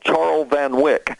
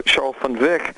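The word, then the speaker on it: Charl van Wyk: but but Mr funv that's how his name's pronounced and and the way it's written he he always gets called Charles Van Wick and and and he explained to me in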